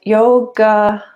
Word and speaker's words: yoga: stages of that and yoga yoga so actually in the in the sanskrit name that the a is silent so it's yog yog yoga yog it's kind of